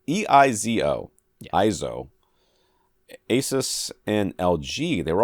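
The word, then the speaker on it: EIZO: supplier for professional oleds monitors from ESO Asus ISO e-i-z-o ISO Asus and LG they were also tcl's partner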